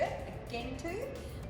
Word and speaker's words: Gentoo: are some of our Gentoo penguins. Some people pronounce it with a G, a Gentoo.